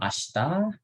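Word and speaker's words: あした: Yang warna merah nih, bacanya Lusa. gimana? Asati. Asate. Lusa, iya. Asate. Asate. Hai. Jadi hari ini kyo, besok ashita, lusa, asate, kemarin kino, 2 hari lalu ototoi.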